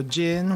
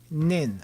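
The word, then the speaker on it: 人: if it's uh it can be pronounced jin or nin as in or something along the lines of human i don't know exactly how they i don't know i don't know exactly what how the pronunciation is determined but in this case it's jin ningin there we go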